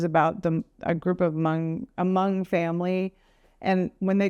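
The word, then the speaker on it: Hmong: M it's hm o n g but it's pronounced M and uh they have their own language their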